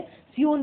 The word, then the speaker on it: scion: सियोन भी बोलते हैं, SCION ये स्पेलिंग होती है, सियोन भी बोलते हैं।